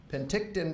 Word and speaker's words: Penticton: He was born in, and help me with the pronunciation, is it Penticton? Penticton, British Columbia, Canada.